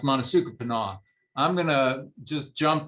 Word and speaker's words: Monasukapanough: It's not easy to pronounce the way it's spelled, but that's typically pronounced Monasukapanough.